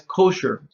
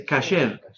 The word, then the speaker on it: kasher: Entonces, la palabra, por ejemplo, no es kosher, es kasher. No es Shabbos, es Shabbat. ¿Yeah? Entonces, esa pronunciación es la pronunciación Yiddish, la que comúnmente